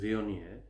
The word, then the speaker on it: Viognier: It's spelt Viognier, and it is pronounced Viognier.